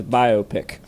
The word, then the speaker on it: biopic: believe Greek rout whereas bi biopic is a portm of biographical picture the first uh two syllables of biography is bio and the first syllable of picture is pick and therefore Jesse Dukes will be saying it as biopic here to four but you